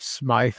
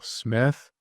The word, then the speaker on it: Smyth: Some people pronounce it Smythe, but I'm pretty sure that pronunciation is still Smith.